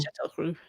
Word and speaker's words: Châteauroux: Châteauroux, yeah.